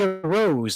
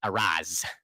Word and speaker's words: arose: I need to remember a rose, not a Roz. It's not how you say it.